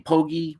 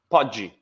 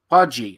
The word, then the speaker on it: Poggi: active on Instagram um we say your name pogy what's the right way to say your last name Podi Podi all right so hold on